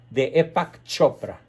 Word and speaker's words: Deepak Chopra: extremadamente famoso de epa que se escribe de pax se pronuncia deepak chopra que tiene consejos que